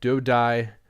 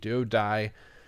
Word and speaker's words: DuoDai: So I'm DuoDai, spelled DAI. It drives me insane when people spell it. DuoDai.